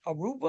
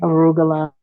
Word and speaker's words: arugula: You would grow uh greens, lettuce, uh they got something called aruba or some like that. Uh broccoli, arugula.